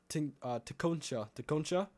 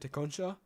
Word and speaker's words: Tecumseh: Burlington, you're next in line, and Tecumseh. That's how you say it, Tecumseh.